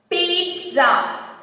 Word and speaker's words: pizza: This is pizza. Pizza. Not pizza. It is pizza.